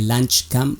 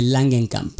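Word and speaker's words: Langenkamp: episodio de este podcast pronuncié mal su apellido dije lunch Camp que de niño Siempre pensé que se decía así en realidad se dice langen Camp Cabe destacar que para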